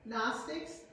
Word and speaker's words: Gnostics: The Gnostics, spelled with G-N, Gnostics, they were a group